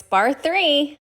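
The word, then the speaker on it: Bar III: So it's Bar 3.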